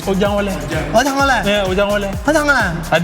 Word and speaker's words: Ojangole: But you didn't say it right. It's ojangole.